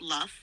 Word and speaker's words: lough: From the Lough? L-O-U-G-H. How do you pronounce that? Is that Lough, Robot Lady? Yes, Jeff, it's pronounced Luff, like lock, but with an L.